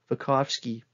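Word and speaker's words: Vygotsky: down this researcher's name so vakovsky is how you say it um you'll need to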